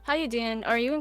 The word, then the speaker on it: Howuduyen: Is that how you say it, or do you actually say your name? Yeah, how you doing?